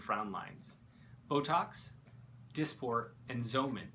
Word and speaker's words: Xeomin: lines Botox disport and Zan spelled with an X so all three are